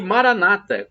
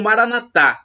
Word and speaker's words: Maranata: ele vai providenciar um Maranata como dizem os evangélicos ou protestantes com a tônica na penúltima sílaba ou Maranatha como dizemos nós católicos com a tônica na última sílaba não importa porque o